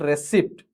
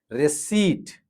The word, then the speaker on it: receipt: It's not receipt, it's receipt. Jewelry.